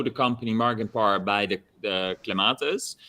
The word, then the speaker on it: clematis: A lot of people know the company Margenpar by the clematis. Am I pronouncing it right? Yeah. Yeah, clematis, yeah. Clematis. It depends how posh you are.